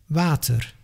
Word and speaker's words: water: As if you want to pronounce the English W, but then without moving your lips, just like a ventriloquist. W, w, water, waar.